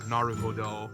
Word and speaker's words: Naruhodo: The OU in Japanese is supposed to be a longer O, so Naruhodo.